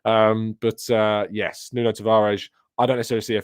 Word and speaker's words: Nuno Tavares: money on who knows new notes of orange I'm forgetting about you're right here here I'm sorry I mispronounced that um but uh yes Nuno Tavares I don't necessarily see